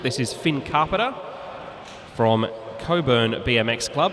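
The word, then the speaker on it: Cockburn: is Finn Carpenter from Coburn BMX Club. It's spelled C O C K B U R N, but I've been reliably informed by people living in Perth that it's pronounced Coburn.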